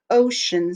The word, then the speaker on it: ocean: examples of ocean so the o in ocean says oh ocean this is also a two-syllable word ocean and the s-c-e-a-n is shun so it's not spelled the way it sounds o c e a